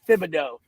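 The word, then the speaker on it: Thibodeaux: I believe his name is pronounced Thibodeau, kind of like the Tibbs. Just like Tibbs.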